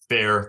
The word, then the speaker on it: Fair: Fair. Just like Fairball.